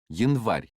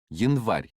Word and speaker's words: Январь: Listen and repeat the following, Январь. which means January. Now, how do you say January? Январь.